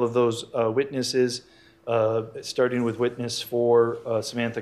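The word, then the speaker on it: Steuding: david studing s t actually i believe he pronounces starting s-t-e-u-d-i-n-g i will be handling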